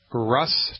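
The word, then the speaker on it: Rhus: medicine first I'll say it and then I'll spell it it's called Russ toxicodendron he spelled that are like Roger H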